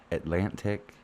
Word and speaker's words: Atlantic: We Canadians are so bad at pronouncing that second T. Like I I'm bad at it, too, when I say cuz I'm from the Atlantic. At Atlantics, the Atlantic provinces, not but you should say Atlantic.